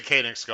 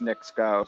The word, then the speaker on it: Knicks Go: will be i d i'd say koenigs go i'm sorry guys i i don't know i supposedly that's what the connections pronounce it but anyway we understand yeah i tried to get i tried to get that going and then they they chimed in on twitter and said it's knicks go so that's oh that